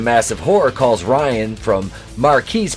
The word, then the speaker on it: Marquise: horror calls ryan from marquise pronounced marcus because he's [ __